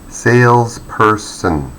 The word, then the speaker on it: salesperson: The second word has 3 syllables. Salesperson, salesperson, salesperson. So we give a high pitch or the loudest noise to the first syllable, salesperson, salesperson.